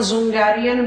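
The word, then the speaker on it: Dzungarian: आपको वहां पर जुंगारियन बेसिन दिखाई दे रहा हो। डी is silent.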